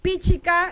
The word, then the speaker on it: Pichica: Pichica, la fuerza está en pi. La segunda sílaba es abierta. Por lo tanto, la fuerza debe ir en la primera.